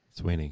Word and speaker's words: Suibhne: Suibhne. Sweeney. Yeah, Sweeney. Sweeney. It's just Sweeney.